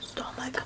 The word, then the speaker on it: stomach: Stomach ache. Ты не знаешь слово stomach? Нет. У нас здесь CH читается как stomach.